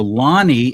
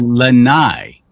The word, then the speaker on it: Lani: So Lonnie, Lani, should be Lanai, because most of the vowels are always the long vowels. I. If it's I, you pronounce it I.